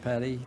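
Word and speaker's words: petit: you are charged with i pronounce it pettit some people pronounce it petty theft prior theft convictions you're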